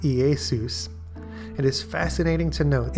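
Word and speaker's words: Ἰησοῦς: appeared in the Greek and would have been pronounced EA Seuss it is fascinating to note in the outline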